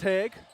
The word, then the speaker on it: Heg: I've been saying her name. Ellie Jane Hog for the longest time. So say it right. It's Heg off the light.